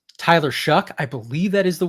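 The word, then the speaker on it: Shough: And it's Tyler Shuck. I believe that is the way you pronounce his last name.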